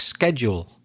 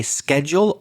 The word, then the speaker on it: schedule: Yes, I also noticed a nice typical collocation, a hectic schedule. Yeah. You pronounced it the American way. You could say schedule or schedule. They're both right.